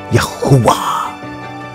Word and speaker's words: Yahuwah: His name is pronounced Yahuwah or Yahuwah.